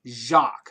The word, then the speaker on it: Jacques: But it's pronounced Jacques. Like Jacques Cousteau.